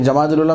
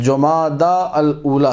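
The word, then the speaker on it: جمادى الأولى: की तारीख है अभी जमाद ला मेरी मजबूरी आपके सामने बोल रहा हूं गलत लफ्ज है जमादा अल ऊला सही लफ्ज अरबिक जो करेक्ट प्रोनंसिएशन या प्रोनाउंस है वो यह है जमादा अलला अब य जमाद अव्वल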